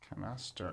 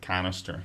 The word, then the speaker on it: canaster: Canaster, and the emphasis is on the aster, right? Not like canister. Yeah, it's canaster. Yeah, it's canaster. It's pronounced the same as the card game, but spelled differently.